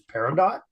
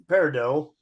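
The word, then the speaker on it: peridot: par par par yeah is silent a t par can a t be silent yes it can yep it's French oh it's French that explains French all right so par par parido sometimes called crystalite is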